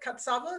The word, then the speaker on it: Katsavos: isabelle and we have today with us katsavos did i say that correctly katzabos yes you did how do you say it